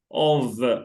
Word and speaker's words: of: Okay, it's written with F, with one F, but it's pronounced V, of, right? We don't say off.